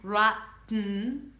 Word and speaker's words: rotten: Rotten. And that's never a flap T. So, it's not going to be a rotten. Okay. Rotten or rotten with a light t.